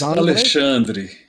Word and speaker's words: Alexandre: Alexandri. Alexandri. That's That's the way we pronounce it in Portuguese, but in English, I just gave up.